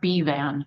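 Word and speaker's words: Bevan: It's pronounced B-Van.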